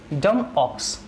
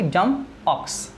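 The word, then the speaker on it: dumb ox: Second पर हम चलते हैं भाई, डम ऑक्स। यस, इसको ध्यान से बोलें भाई, बी यहाँ पर साइलेंट रहता है तो क्या कहोगे, डम ऑक्स, डम ऑक्स।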